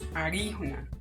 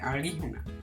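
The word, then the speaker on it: alijuna: decir arama, podemos decir la idea es que se pronuncie como entre L y L. Claro, Nacho, hay una palabra que mucha gente conoce del Wayunaiki que es arijuna, arijuna, arijuna, arijuna, arijuna. Entre L y R, arijuna, una persona que no es Wayuu.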